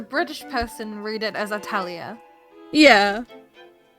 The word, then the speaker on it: Atelier: We're looking for is it Atalia or Atalia? It's really complicated. Does it matter? I think there's like a ton of different ways to pronounce it because I had the game with Japanese audio, so it's just Atorie for me, but in English it's dubbed as Atlier, and then the New